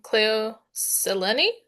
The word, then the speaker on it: Cleo Seleni: And I noticed with um Cleo Seleni is how you say her name.